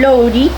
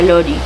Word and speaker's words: Laurie: a casar con Lori, creo que se pronuncia Lori.